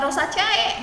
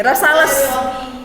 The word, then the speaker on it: Rosales: Ini bacanya bukan rosa C. Rosa C. Wih, rosales.